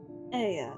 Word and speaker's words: Aya: When the vibration of vocal folds was still required to convey our thoughts and attention, Aya, I believe, was the pronunciation used when referring to our people.